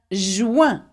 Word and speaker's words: joint: Un joint. Okay, remember we don't pronounce the T. Joint.